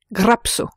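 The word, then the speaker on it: γράψω: j'écris donne au futur grapso qui se prononce et s'écrit grapso en revanche si la consonne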